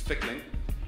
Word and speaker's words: Fickling: for the first time so you say it like this it's Fickling like tickling with a if which is like but with a tickle you know I'm a